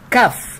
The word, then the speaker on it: cough: ردت انجي وقالت I have a cough. I have a cough. طبعا الجي اتش في اخر الكلمة بنطقهم فيه، عشان كده كف يعني كحة.